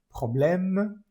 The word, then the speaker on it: problème: Problème, esta E al final de la palabra problème no se pronuncia.